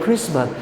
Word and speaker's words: Christmas: We don't pronounce T. We say we celebrate Christmas.